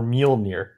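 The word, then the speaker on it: Mjölnir: Yeah, that's how you pronounce Thor's hammer, Mjolnir.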